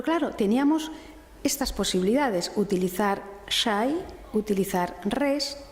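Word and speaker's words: شيء: árabes emplearon la palabra shay, que se translitera, yo no sé árabe, pero se translitera en los textos medievales y renacentistas como XAY. Shay, se pronunciaría shay en esta época.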